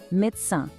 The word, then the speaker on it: médecin: E médecin também termina com um som nasalado, médecin.